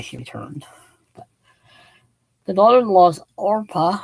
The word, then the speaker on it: Orpah: returned but the daughter-in-law's orpah i almost want to say oprah constantly because that's almost how it's spelled oprah and ruth are